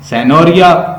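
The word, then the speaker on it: Signoria: अगस्त का मतलब होता है ग्रैंड, सैनोरिया जी साइलेंट है, सैनोरिया।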